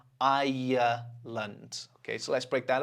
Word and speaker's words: Ireland: This one is actually, well, it's 2 syllables, but it feels like 3. Ireland. Okay, so let's break that up. Ireland. Ireland.